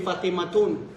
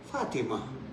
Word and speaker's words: Fatima: Huwag mong sabihin Fatimatun. No. Fatima.